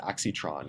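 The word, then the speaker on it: Aixtron: EXA example is uh I believe it's pronounced aitron which is um a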